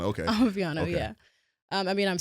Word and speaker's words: Amapiano: How do you pronounce that? Real Amapiano. Amapiano.